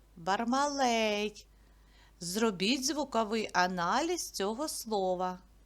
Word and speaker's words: Бармалей: до букви Б Б Бармалей давайте поділимо його на склади скільки складів три А куди поставимо наголос на е Бармалей зробіть звуковий аналіз цього